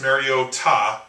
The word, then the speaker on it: Mariota: And the young Marcus Mariota, as he likes to pronounce it. I thought it was like a Spanish name, Mariota or something.